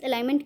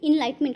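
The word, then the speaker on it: enlightenment: Where did he want to stay until his alignment came? Sorry friend मैं इसको क्या pronunciate कर, इनलाइटमेंट होता है।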